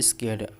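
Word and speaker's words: scared: Arun was स्केर्ड।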